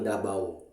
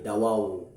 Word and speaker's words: Davao: grupong bagubo ang ubos ang pagbigas nila ng Davao ay Dava ang grupong klata ang pagbigas naman nila ay Dawao at ang tagabawa Ang pagbigkas nila ay Dabo na tumutukoy sa Ilog